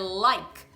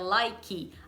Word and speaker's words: like: The verb "To Like" it's LIKE and not LIKI* Actually there were three